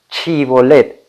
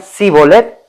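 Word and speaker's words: שיבולת: Cuando los efraemitas derrotados intentaban cruzar, se les decía, se les pedía pronunciar una palabra, chivolet. Y si decían cibolet, morían.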